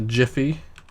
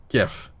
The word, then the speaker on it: GIF: that exactly comes from that's why you can't have the the picture format gif being pronounced jiff there's already something called jeff i don't know why